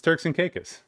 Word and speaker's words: Turks and Caicos: And it's Turks and Caicos.